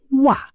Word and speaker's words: は: Nah, si wa ini unik. Ditulis H, tapi kalau jadi penanda topik, dibacanya wa.